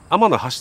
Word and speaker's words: 天橋立: 天の橋立てって読むんですよ。